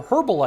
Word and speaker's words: herbal: I've always said herbal, I don't know. I read, when I was a kid, I was taught that the H was silent, and that just stuck with me.